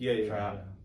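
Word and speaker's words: Trapp: And so, my name's Trap. The first P is silent, and Trap.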